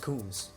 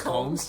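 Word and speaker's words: Combs: Sean KS I like I think it's pronounced kums it's pronounced c yeah though is coms yeah and I was like yeah coms is more normal I mean welcome to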